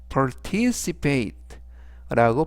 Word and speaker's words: participate: 단어는 라고 발음하시면 되겠고요 이때 강세는 t 바로 뒤에 있는 아의 강세가 있습니다 그래서 participate라고 발음하시면 좋겠고요 품사는 동사